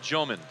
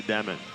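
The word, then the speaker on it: Dëmin: It was actually my fault about the pronunciation when I just got to America. I thought it's gonna be easier for everybody just to say Demin, right? But yeah, originally I have those 2 dots on top of the E, which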